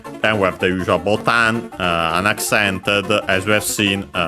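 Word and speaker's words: ボタン: It's actually from Portuguese botão, and that's why it's like that, botan, and also unaccented.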